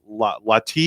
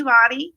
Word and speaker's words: Lottie: looks like it's Lati. Am I saying it right? Yes, you are. I'm Lottie.